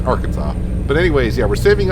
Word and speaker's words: Arkansas: and hello Arkansas or some people may pronounce it our Kansas I don't know no I think but it's Arkansas but anyways yeah we're